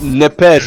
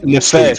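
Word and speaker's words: נפש: It's nepes, or how let me see how to pronounce it. Big booty, my shit. How do I pronounce this? Nefesh.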